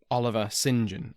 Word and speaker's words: Oliver St John: present as an MP Oliver St John or Oliver singen as it is apparently pronounced this Oliver singen was